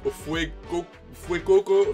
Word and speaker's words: Fuecoco: Mine is, of course, Fuecoco, yes, that's how you pronounce it.